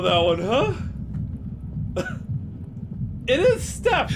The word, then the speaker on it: steppe: It is Step, right? The Golem of Steppe legends. It is Step.